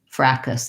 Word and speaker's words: fracas: Oh, okay, so the other option is the one that I tend to use, which is more of a fracas, that's the British.